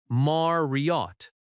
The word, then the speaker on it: Marriott: Marriott has stress on "Mar". Marriott. When you say the name, stress the correct syllable.